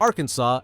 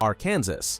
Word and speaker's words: Arkansas: allow mispronouncing its name say it Arkansas not Aransas this law preserves State